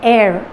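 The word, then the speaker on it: heir: पढ़ तो नहीं सकते, इसका प्रोनाउंसिएशन होता है एयर, जैसे एयर बोलते हैं हवा के लिए, उसी तरह इसका प्रोनाउंसिएशन ऐसे आता है।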